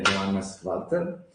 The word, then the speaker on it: Johannes Walter: L'ospite è Johannes Walter, EU University of Applied Science, è giusta la pronuncia?